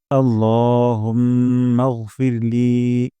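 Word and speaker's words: اللهم: আমরা তাহলে শুরু করছি আল্লাহুম্মা এখানে আল্লাহ বলবো না ল উচ্চারণ করবো এবং এক আলিফ টান দিব দুই সেকেন্ড পরিমাণ লম্বা করব আল্লাহুম্মা এখানে মোটা করে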